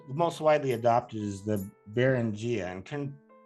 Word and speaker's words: Beringia: But anyway, the theory that has the most widely adopted is the Beringia, and correct me if I'm pronouncing that, Laura, incorrectly. Beringia.